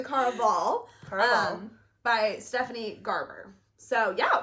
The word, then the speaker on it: Caraval: I was almost at Caravala. And I was like, that's not it. It's the Caraval.